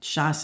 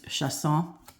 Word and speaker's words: Chosson: I said shas and I'm sure it was shasson. I'm guessing that's the proper way to say it.